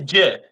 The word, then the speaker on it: GIF: be we're gonna go it is JF is not GIF I will fight anyone